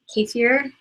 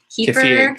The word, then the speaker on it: kefir: Kefir? Kefir.